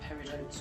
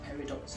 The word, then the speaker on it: peridot: of gem quality, so you could actually call them peridotes or peridots depending on how you wish to pronounce that.